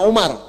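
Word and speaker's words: عمر: Nah, kalau dibaca begini, Amr namanya. Kalau wawunya hilang, bacanya Umar.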